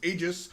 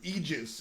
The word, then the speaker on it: Aegis: be correct for instance Aegis is the wrong way to pronounce it egis is the correct way but everyone in the